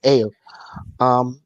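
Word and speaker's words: Ayo: I think her character's name is Ao, but I might be mispronouncing it. Yeah, no, it is. Yeah. Okay. Thank you. Like Ao.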